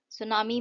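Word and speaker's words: tsunami: अब नहीं है सुनामी सुनामी में जो है टी साइलेंट है सुनामी सुनामी का मतलब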